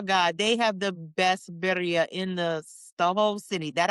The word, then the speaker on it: birria: Birria. Birria.